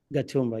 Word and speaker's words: Gatumba: And you lived in a United Nations refugee camp called, am I pronouncing it right? Gatumba. Gatumba, you got it right.